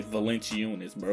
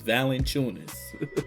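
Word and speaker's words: Valančiūnas: My friend want to say Valanciunas, bro. His name is Valanciunas.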